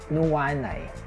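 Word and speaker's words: nuanay: Not yet is nuwanay.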